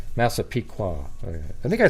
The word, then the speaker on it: Massapequa: that make sense everybody our massive Pica or massive Pica why do I keep saying I don't even know how to say it it's just uh yeah massive that's how I said it originally massapeeka that's how I said it earlier oh a pequa okay Massapequa I think I